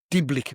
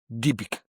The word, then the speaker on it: Dybbuk: You got the Diblick box. Now I don't know. Just everyone says this word differently. It's spelt DYBBUK. Diblick box.